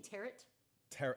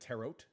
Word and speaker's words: tarot: Are you saying tarot? Isn't it tarot? Tarot. Oh, you don't pronounce the last T?